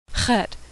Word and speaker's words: Chet: Chet is pronounced ch, a throat-clearing noise that doesn't occur in English. It's like in ach in German, or loch in Scottish.